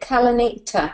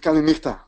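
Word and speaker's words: Καληνύχτα: Are we at that time of the evening, or is it Kalanita? I can't even know how to pronounce it. We will. You could open with Kalispera and you could close with Kalinichta.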